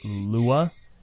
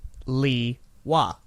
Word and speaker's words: Lewa: They won't say it, well, there's an argument as to whether or not it'll also be Loo-wuh, but Yes. primarily it's Lewa.